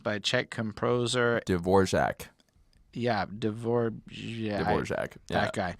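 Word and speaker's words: Dvořák: Yeah, Dvorak. That guy. I know it's not spelled like that, but that's how it's pronounced.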